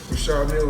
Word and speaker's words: Richard Mille: That's the Richard Mille. No, I like to call this, well, people pronounce them different ways. Rashad Mill is what my jeweler told me, so. Exactly how you say it, Rashad Mille.